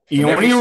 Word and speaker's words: Eonian: Eonian Records.